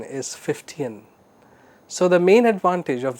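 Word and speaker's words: Fichtean: c h t e a n but the pronunciation is 15 so the main advantage of the 15 curve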